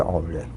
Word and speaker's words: Euler: Relação de Euler. Ou a pronúncia correta seria Euler.